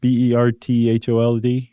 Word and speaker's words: Berthold: His brother was all His brother Berthold, am I pronouncing that correctly? Bert b e r t h o l d?